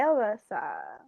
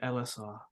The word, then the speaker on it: Ellisar: Hi, Alyssa. You, There's ours. Elisar. you No, slay. not Elissa. Huh? Not Elissa, Elisar.